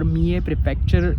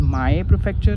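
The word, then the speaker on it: 三重: not the correct pronunciation or me a prefecture uh a place in japan is pronounced as my prefecture sometimes and sometimes me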